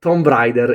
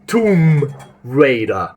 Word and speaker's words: Tomb Raider: Tomb Rider is not the right way of pronouncing that game. That game is pronounced Tomb Raider or in American Tomb Raider, but not Tombbrider because that's really weird.